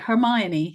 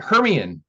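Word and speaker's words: Hermione: know how to pronounce like like hermion like heran so for the first several books we read it to our children and it was heran and and then Jim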